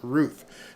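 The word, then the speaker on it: Routh: we're gonna find out this Ruth okay it's not Ralph okay Barry Cunningham it's pronounced Ruth so Ryan Wesley Ruth I'm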